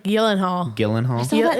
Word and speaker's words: Gyllenhaal: It's like Gyllenhaal.